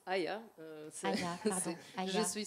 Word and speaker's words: Aja: On va passer maintenant à Aja, donc à Worldlia. Bonjour. Alors, ça se prononce Aya.